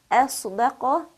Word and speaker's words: أَصْدَقَ: Okay, be careful that when we say this word, for example, we don't make the alif heavy, nor do we make the dal that follows the sad heavy as well. Only the sad in between is pronounced with this quality of isti'ala.